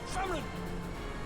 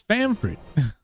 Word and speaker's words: Famfrit: Come, Famrin, revel in the glory of my triumph. You just said the name wrong. Hold on. It's Famfrit.